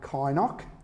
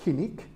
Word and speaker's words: Kynoch: north then to what Toowoomba call Mount Kynoch, which really should be pronounced Kinnick, because it's named after John Kinnick, who was mayor of the Highfield Shire.